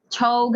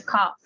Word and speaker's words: cough: Nah, berarti kalau bad cough ini batuk, bukan dibacanya chog atau no ya. This it pronounces as cough.